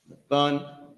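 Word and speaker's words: נתן: Nathun is how you pronounce it.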